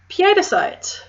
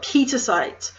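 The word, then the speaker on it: pietersite: Next is piedicite. Now, everyone's tempted to call it petersite, which, while being not wrong, my Dutch mother would kill me because it's actually P-I-E-T-E-R.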